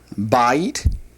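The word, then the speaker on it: בית: Well, normally it would, but the accent is on not the last syllable, but on the first one.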